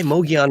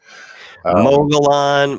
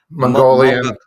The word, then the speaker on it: Mogollon: Mogollon, Mogollon, Mongolian.